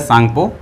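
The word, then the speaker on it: Tsangpo: यहाँ T silent होता है, इंडस सांगपो सचर जोन कहा जाता है।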